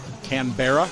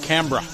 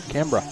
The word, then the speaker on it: Canberra: No back racing checking in from You see that You see this how it See how it's spelled there? Canberra Canberra Pronounced Cambra. Cambra Cambra.